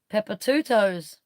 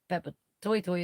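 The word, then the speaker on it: Papatoetoe: Pepper Two Toes. That's how everybody says it in this country. If you live here and you know where Papa Toy Toy is, and that's how you would normally say it, or you're supposed to say it.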